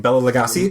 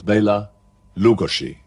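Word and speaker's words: Bela Lugosi: I knew his name Bella legasi yeah Losi Losi I'm sorry Los it's not like gosi um his name was Baya Lugosi now that that's the correct way of pronouncing it but that was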